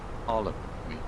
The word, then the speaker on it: Harlem: We stay in Harlem. Sounds like Salem, but it's not. Harlem.